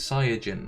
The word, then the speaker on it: Saiyajin: there was like a big discussion about the pronunciation of Saiyan, because the original Japanese is Saiyajin, right?